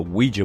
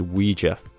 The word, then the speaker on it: Ouija: bit of research and I think the correct pronunciation is Ouija that seems to be the most accepted pronunciation but sane I've also found that a few of the pronunciation sites also call a Ouija so I've come to the decision that both pronunciations are ok you know just pick